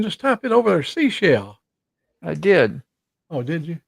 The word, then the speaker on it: Seychelles: You But said it's pronounced seashell like the shell on the beach.